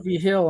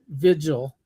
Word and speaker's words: Vigil: Hill on it, which I say V. Hill, but he says Vigil. Yeah. Yeah, Tim Vigil. I pronounce it like it's New Mexican V. Hill, but that's where I'm from.